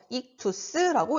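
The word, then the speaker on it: ΙΧΘΥΣ: 그리고 이 안에 있는 단어는 헬라어로 익투스라고 읽어요.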